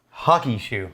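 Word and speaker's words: Hakushu: uh now i think the locals call it hakishu yeah they pronounce that u with a y it i don't know why it's just something about the phonetics actually so it's hockey hockey like like hockey sticks hockey shoe look we're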